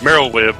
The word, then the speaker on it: Merlwyb: Her first name, Merylwib or whatever. It's Merylwib. It's spelled ridiculous, just like too many letters and no syllables. It's like MERLWYB or something.